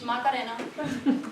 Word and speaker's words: Macarena: And as Dr. Vaughn said, but with a different pronunciation, my name is Macarena.